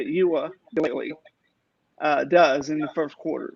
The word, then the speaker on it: Uiagalelei: But I'm gonna have to see how DJ Uiagalelei, that's how you say it, Uiagalelei, does in the first quarter.